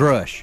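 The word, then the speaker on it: Grusch: and they were the ones who got David Grush to begin his investigation to begin with. Uh, but they had UAP hearings and one of the star witnesses was David and I can't say his name. Grush.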